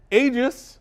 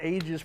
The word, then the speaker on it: aegis: he got it right tony was not pronouncing ages properly okay i said it one time wrong and you guys are like big deal i know soft g soft g i get it i